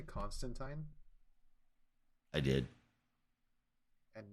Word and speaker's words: Constantine: rites something he's done with it but yeah Constantine that's the right way to pronounce it oh uh zazo has completely disowned